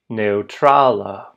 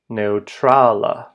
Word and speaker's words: neŭtrala: or I'm going as well that word is pronounced ana ana the word for neutral T contains that rare O dip thong. Neutrala. Neutrala.